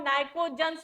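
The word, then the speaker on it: pnictogens: Group 15 जिसको हम नाइकोज्स भी बोलते हैं। पी साइलेंट रहता है यहां पर।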